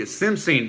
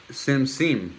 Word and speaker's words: simsim: Sesame seed, simsin. Boy, you are reading my mind. Okay, simsin. Hold on. Oh, S-I... Oh, I remember how to spell it. Simsin, right? Simsim. Simsim. Simsim. It seems so simple. Okay. All right, good. I'm saying it good.